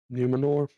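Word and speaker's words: Númenor: I don't know how to pronounce that. Trav knows how. Numenor?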